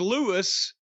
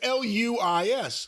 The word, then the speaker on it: Luis: First it was Louis. Well, it's Luis.